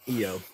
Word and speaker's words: Ion: because I I like I like uh Ian ion whatever you call him I like him I do but I feel like the end is silent okay eio I really like eio I just feel like